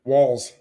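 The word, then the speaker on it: Walz: walls Walls uh, rhymes with balls.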